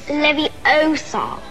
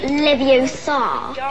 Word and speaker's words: Leviosa: You're saying it wrong. It's Leviosa, not Leviosa. E isso acaba sendo um